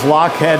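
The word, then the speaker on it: Lochhead: what i use um next one i use lockhead vanilla it's spelled l-o-c-h-h-e-a-d there's a lot of vanillas on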